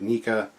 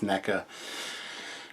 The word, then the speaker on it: NECA: you're a fan of Nika NECA I keep saying it wrong it's NECA um or just gargoyles